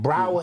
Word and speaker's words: Braugher: Right, Braugher is how it's pronounced.